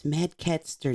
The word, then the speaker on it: Madcaster: It's Madcaster, not Caster.